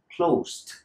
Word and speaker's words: closed: past of close, eliminate the E and it will sound like closed. Repeat with me. Closed. The same thing with opened. Right? When you say open it, close it, it sounds horrible. So don't do that. Eliminate the E in most of the verbs that finish in ed.